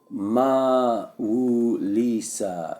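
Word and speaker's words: Mawu-Lisa: seek Harmony and cooperation maal Lisa pronounce Mau Lisa is a Supreme Being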